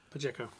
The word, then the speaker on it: Pacheco: Pakiko? I don't know. Yeah. How do you pronounce her name? Pashiko? I don't know. Pacheco. Yeah, that's what he said.